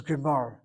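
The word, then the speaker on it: גמר: Notice the word is Gemar. Gamar is a third person past tense.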